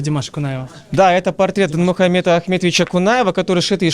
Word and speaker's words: Динмухамед: Но когда сегодня я выпустил сторис, мне в комментариях там написали: неправильно говорить Димаш. Почему говоришь Димаш? Надо говорить Динмухамед Ахметович. Как все-таки правильно?